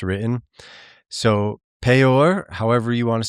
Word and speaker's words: Peor: Um, the fact that we transliterate that as P E O R is bizarre to me because it's P in Vaves. So it's actually P O R.